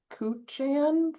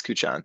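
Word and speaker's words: Kuchan: And it's Cuchon.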